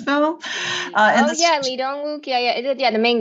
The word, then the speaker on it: Lee Dong-wook: Is that how you pronounce his name in this film? In Oh this, yeah, Lee Dong-wook.